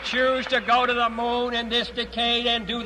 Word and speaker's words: Mun: After orbiting Kurban, my next target is the moon, or Mun if you like pronouncing things wrong.